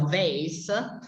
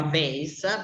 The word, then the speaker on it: vase: che dico con l'accento, con la pronuncia americana e non quella inglese, non mi chiedete perché, è una cosa probabilmente che ho acquisito all'inizio, perché io questo lo chiamo vase, ma in americano si chiama vase, perché è anche scritto